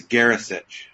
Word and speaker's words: Garasich: Is it Garasich? Yes, it's Garasich.